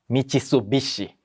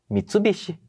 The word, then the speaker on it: Mitsubishi: de carro é verdade as pessoas não falam MIT bichi né Fala Mitsubishi então né que em